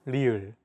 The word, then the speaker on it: 리을: This consonant is often romanized as an R or an L, but there isn't an equivalent sound in English. 라마, This sound is actually somewhere between an L and an R sound. When pronouncing this sound, your tongue should strike the gum ridge behind your upper teeth in a quick, rapid motion.